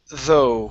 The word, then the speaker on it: though: And your last one is the word though. Instead of the it's though though.